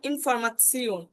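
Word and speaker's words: Information: এরপর হচ্ছে টে, ই, ও, এন, এই তিন চারটে যখন একসাথে থাকবে তখন তার উচ্চারণটা হবে শিওন, শিওন, যেমন ইনফরমাসিওন, ইনফরমাসিওন, ঠিক আছে?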